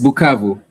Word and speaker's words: Bukavu: Yes, Bukavu.